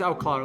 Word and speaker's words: Outclard: His name's Outclard, like Eclair, but with AU. Okay, and what position are you looking for? Hold on. There you go. I sent it to Will. It's Outclard, but the D is silent. The D is always silent.